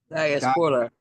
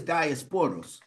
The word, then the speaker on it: diaspora: Please pronounce that for me. Diaspora. Diasporters. Yes. Diaspora. Yeah. I'm going to ask first, what is diasporals?